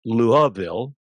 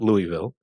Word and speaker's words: Louisville: It is pronounced Louisville, not Louisville.